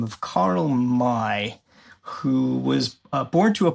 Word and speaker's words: May: So like like May, but I guess the German way of pronouncing it is my.